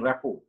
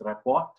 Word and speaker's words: rapport: to build trust and rapport when you can pronounce this report original pronouncing is rapport the letter t is silent okay then then right